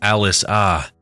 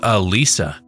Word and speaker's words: Alyssa: She'd mispronounced my name as Alice-ah instead of Alyssa, but I didn't correct her.